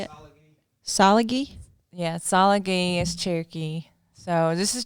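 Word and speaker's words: Tsalagi: Yeah, Salagi is Cherokee.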